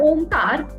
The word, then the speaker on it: Om: most relaxation okay now Omar the M om is made up of three Sanskrit syllables a u and M okay so uh when